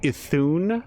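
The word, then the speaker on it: Iðunn: So this is what Carolina was saying, that he thinks that it would actually be pronounced like Ithun, like that odd D is a TH, but we got one of two.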